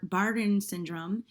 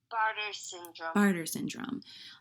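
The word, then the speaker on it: Bartter syndrome: was 27 then she suffered from gastroparesis and barton syndrome how do you say it hon barter syndrome um since then she's discovered she also has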